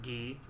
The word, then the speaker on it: Guy: My name's Guy, it's my first day. It's pronounced Gee. Gee, my name's Gee.